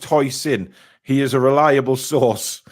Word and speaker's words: Huijsen: He says it's pronounced Huijsen.